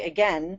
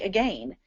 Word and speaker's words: again: Here in the US, uh, we say again, but in England, they say again.